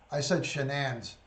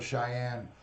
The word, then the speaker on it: Shanann: I said Shanann's name wrong. I called her Cheyenne.